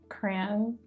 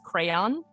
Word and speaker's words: crayon: How many syllables are in crayon? How do you pronounce crayon, Kathryn? Oh my God, crayon. There you go. Some people, depending on where you are in the country, they'll pronounce it as crayon.